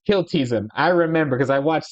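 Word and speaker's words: Kltpzyxm: can't say it forward it's hard made to pronounce it to say his name backwards it's kiltizon I remember because I watched Superman the animated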